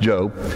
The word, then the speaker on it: Job: There was named Job. Some people say Job, but it's pronounced Job.